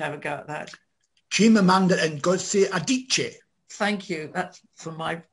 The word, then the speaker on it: Chimamanda Ngozi Adichie: I can't even pronounce the second thing. Would you like to have a go at that? Chimamanda Ngozi Adichie.